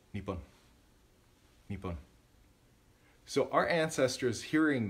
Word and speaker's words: niibin: Niibin.